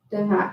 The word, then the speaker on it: devant: Devant, you don't know how to pronounce the T. Devant.